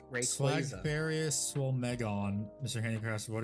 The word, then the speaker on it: Rayquaza: Oh hey, also Pokemon just officially announced that it is pronounced Rayquaza.